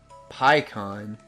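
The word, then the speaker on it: Pikkon: I call him Pycon. I don't care. Mainly because of the Funimation. Well, yeah, the Funimation dub. But I mean, like, Why would you want to call him Pecan? Because that's how it's pronounced in I mean, Japanese.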